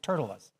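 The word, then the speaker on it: Tertullus: there's a guy named turtas it's spelled not like that but that's how it's pronounced I just picture a turtle and us next to it Turtle us Turtle us was a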